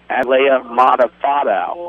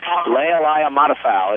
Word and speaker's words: Leia Matafao: But the pronunciation, Leia Matafao is the name.